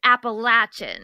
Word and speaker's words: Appalachian: 100 times, is that the correct pronunciation of Appalachian. Appalachian. But I, for some reason, say Appalachian. But I looked it up, and they said both ways is okay. Yeah. But it is Appalachian.